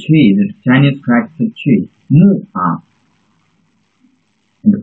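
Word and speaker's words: 木: The trees, the Chinese character trees, mu, and pronounce mu, it means a tree, mu.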